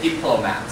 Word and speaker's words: diplomat: 如果是念名词的话，底下那个是外交官，第一个音节 we say diplomat. Thank you. 然后回到上面的外交的，移到 mad 上面，所以 we say diplomatic. Thank you. 但是如果是外交变成第二个音节 we say diplomacy. 呀，所以这个字在念的时候呢，就刚好是一个是第一个音节，一个是第二音节，一个是第三音节，可以吗？再确定一次，外交官 diplomat，外交手段 diplomacy， and if it's about foreign affairs diplomatic.